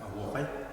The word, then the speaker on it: Осуохай: Сейчас мы с вами разучим мотив хороводного танца Асохай. В якутском варианте произносится как Агохай.